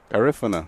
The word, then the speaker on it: Garifuna: Garifuna. Garif, like the word if. Yes, okay, correct. that's a question. Garifuna. Emphasis on the second syllable.